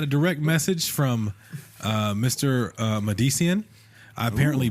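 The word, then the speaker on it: MDCN: Add yourselves to the long list of people who have botched my name. Phonetically, it's M-D-C-N.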